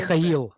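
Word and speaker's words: Mykhailo: Mikhail. Mikhail. Mikhail. Mikhail. Michael. His name is Michael. Michael in English.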